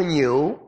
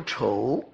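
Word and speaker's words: 杻: 个字啊，有两种读音，一是读牛，牛是这个当普通的用法，在这里读丑。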